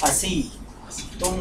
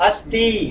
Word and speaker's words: अस्ति: हो जाता है देखिए आपने कहा अस्ति इसका उच्चारण करें मेरे साथ अस्थ बोले अस् अस्थ अस्थ सिंपल हिंदी में इसका